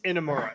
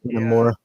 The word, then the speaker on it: Inamura: Pronunciation? Spelling? That's a mouthful. It's Inamura. Yeah, it's Inamura.